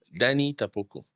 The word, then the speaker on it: Danny Tapoko: Oh, you want to pronounce it better for us? Danny Tapokco.